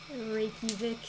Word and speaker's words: Reykjavik: Reykjavik. Yeah, that's how it's pronounced.